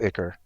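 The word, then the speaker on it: Ichor: you see cards like icor drinker which is you know a one Mana body that you can then sacrifice my wife is telling me that it's pronounced acre if you see an icker Drinker which is a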